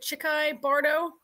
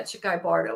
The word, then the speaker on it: Chikhai Bardo: I have it here you pronounce it chicky Bardo yeah chicky Bardo I guess is how you pronounce it and um we'll